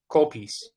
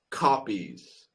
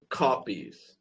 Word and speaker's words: copies: call piece Okay. Not call piece, but copies. I see. So, the the pronunciation is copies.